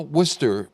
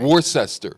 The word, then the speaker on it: Worcester: The way to spell that name, Worcester, is Worcester. And no one from Massachusetts can say it. They don't say it correctly? No, they look at it and they can't pronounce it right.